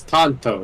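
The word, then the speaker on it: Tonto: American there you know he's Tanto not Toto I was like from Wizard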